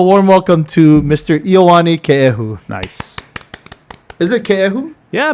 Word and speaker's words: Keehu: we've never written it that way, but it's pronounced Keehu.